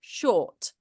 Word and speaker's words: short: I just think make sure it's still, it almost went back to shot again.